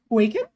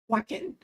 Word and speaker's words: Wacken: How do I pronounce that? Waken? Wacken.